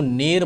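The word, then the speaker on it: ne'er: नेवर alive नेवर parted we और एन इ आर को अगर जो हम प्रोनाउंसिएशन प्रोनाउंसिएशन करेंगे तो किस तरीके से लिखेंगे इसको नेर पढ़ते हैं क्या पढ़ते हैं नेर ठीक है तो अलाइव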